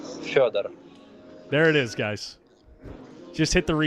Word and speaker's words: Fedor: It's Fedor.